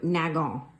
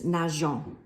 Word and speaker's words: nageons: If that was the case, following French pronunciation rules, you would pronounce that verb nagon, which is just kind of ugly. So with the E, it sounds like this, nageons, which is just much